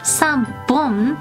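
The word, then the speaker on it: 三本: So the ones with a little bit of a different pronunciation is 1, 3, 6, 8, and 10. 3, 3, bon. That's when there's a dakuten on it, so the pronunciation becomes b, bon, 3, bon.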